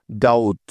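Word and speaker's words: doubt: ডি ও ইউ বি টি মিলে হয়ে গেল ডাউট ডাউট ডাউট মানে হলো সন্দেহ আশা করি এখন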